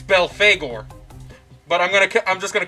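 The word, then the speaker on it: Belphegor: Supposedly, it's pronounced Belfagor. So instead of Befulger, like I've been saying this whole time, it's Belfagor.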